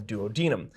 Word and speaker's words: duodenum: The small intestine is called the duodenum. Now, sometimes people will pronounce it duodenum, and I actually used to